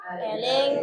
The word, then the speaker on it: eling: ini ini dibacanya apa Eling Eling kalau ada e ada Curuk itu dibacanya e ya oke ee silakan dinazomkan